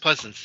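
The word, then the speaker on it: Pleasence: when we see on the screen were Donald Pleasance, I think I pronounced that correctly. Pleasance, yes.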